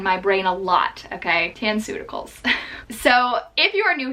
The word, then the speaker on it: Tanceuticals: absolutely loving lately called tan suta Kohl's I mispronounced it and called it tan cuticles for a while quarantines just it's just affecting me and my brain a lot okay tan suta khals so if you are